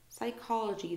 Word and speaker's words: psychology: so we have psychology no P sound psychology the study of the